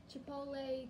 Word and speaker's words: chipotle: And we've also got those two jams, and we've got this sauce, the chipotle chilli sauce.